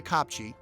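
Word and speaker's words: kopje: Another full-time resident of the Copchi that's spelled K O P J E is the clipbringer, one of the small analopee.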